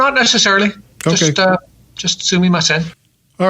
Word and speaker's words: sumimasen: Sumimasen.